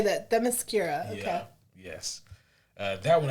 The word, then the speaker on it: Themyscira: Themyscira. Okay. Yeah. Yes. That one I do know how to pronounce properly.